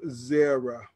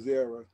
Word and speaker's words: Zerah: Carmi, the son of Zabdi, the son of Zerah, of the tribe of Judah, and took of the accursed thing. So you're absolutely right. But they spell it with a E-R-A-H, Zerah.